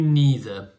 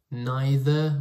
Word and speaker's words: neither: my darling or you neither there are two pronunciations for this word neither or neither what does this mean